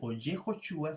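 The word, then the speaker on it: Yehoshua: tanto vemos allí que el significado de josué yehosua significa el salvará y está relacionado con libertad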